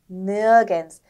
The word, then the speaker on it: nirgends: 그 다음 철자 조합은 D하고 S가 만났을 때 this 이렇게 읽는 게 아니고 ts 발음이 되는데 한번 써볼게요. ts 발음이 된다는 거죠. 그럼 단어를 한번 들어볼까요? 네. Abends, nirgends.